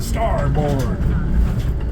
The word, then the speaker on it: starboard: And just the way old British people say it like steerboard. Star the steerboard. The starboard.